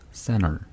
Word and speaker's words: center: 어떤 경우냐면 T가 N 다음에 오는 경우에는 보통 생략하는 경우가 많습니다. 어떤 경우냐면 뭐 가운데라고 할 때 center 네. 네, 그런 말 있죠. 이렇게 center. T 발음을 해도 되는데 T가 N 다음에 오기 때문에 그냥 center. 그렇게, center. 네, T 발음이 없다고 생각하는 거 그냥 center 이렇게 해도 됩니다. 네.